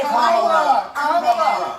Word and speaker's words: Kamala: Let's start, Lefties, with this almighty group meltdown on CNN because Nancy Mace allegedly mispronounced Queen Kamala's name. Watch this demented carry-on. And Kamala Harris is Kamala.